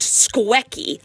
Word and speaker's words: Squecky: Yes, I spelled it like that on purpose. It is pronounced Squecky.